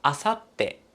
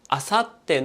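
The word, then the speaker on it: 明後日: おとといもあさっても特別な読み方です。なんでこんなにイレギュラーな読み方なんだろうと思わないで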